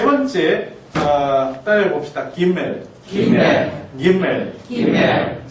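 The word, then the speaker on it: גימל: 김멜 김멜 김멜 김멜 김멜 아니 김멜 김멜 앞에 액센트가 있습니다. 그 저 히브리어는 액센트가 있는 언어기 때문에 어 액센트에 유의하실 필요가 있습니다.이 이 액센트가 어디 갔느냐에 따라서 어 여러분에게 또 무슨 일이 벌어질지 모릅니다.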